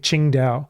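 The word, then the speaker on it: Qingdao: You may have heard of Ching Dao beer or it's spelled singing Tao here, but it's actually spelled or said Ching Dao, which is on the coast.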